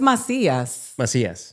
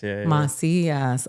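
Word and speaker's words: Macías: So, it's mas mas. But you know, we were talking about that because we can't put the accents, the anes in our stuff and so people don't don't know the the pronunciation of our name.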